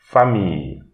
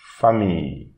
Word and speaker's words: famille: And here again we have the ILLE. So here we read fa famille, famille, famille.